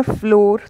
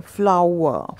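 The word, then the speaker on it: flower: बोल देते हैं फ्लोर तो फ्लोर नहीं बोलना जैसे फूल के लिए बोलते हैं फ्लावर फ्लावर तो इस तरीके से इसका उच्चारण करना है आपको फ्लावर जल्दी से बोलेंगे तो ये सही उच्चारण हो जाएगा फ्लावर फ्लावर नेक्स्ट बढ़ते हैं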